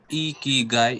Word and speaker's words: ikigai: this yes sir may i pronounced as e key guy is a japanese concept